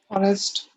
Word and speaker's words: honest: This is the main rule, and the rule is saying we use an before some words beginning with silent consonants as the next letter is a vowel.